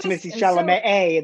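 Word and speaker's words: Timothée Chalamet: So Timothy Chalamet A, the accent on the second A.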